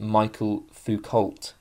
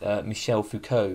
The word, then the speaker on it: Michel Foucault: I would intuitively pronounce it Michael Foucault, but I believe it's Michel Foucault, because, you know, the French don't believe in pronouncing the letters that they put into words for some reason.